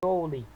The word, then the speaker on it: joule: Então, toda vez que você vai colocar o nome da unidade por extenso, coloca Joule, joule, tá bom? E nós pronunciamos joule, tá bom?